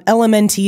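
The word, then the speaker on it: LMNT: I'm unsure element um elemente is how they spell it but they call it element Rob wolf invented that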